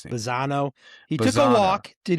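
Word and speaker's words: Bazzana: Bazano.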